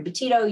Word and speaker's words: Betito: find me on social media my last name is spelled b-e-t-i-t-o so if you look up at dr laurie boutito you will find me on all social media